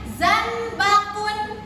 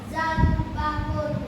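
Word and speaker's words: زنبقٌ: Ini adalah tanda dhammatain. Kalau dhammatain bunyinya adalah un. Berarti dibacanya zanbakun. Apa Kanzan? Zanbakun, Oke, coba Kanzan baca lagi.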